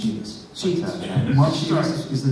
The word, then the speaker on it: Szybist: The name is pronounced Szybist.